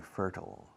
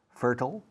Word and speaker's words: fertile: The soil in the American Midwest is incredibly good, very fertile. Hay dos pronunciaciones para fértil. Fertile and fertile, ambos valen.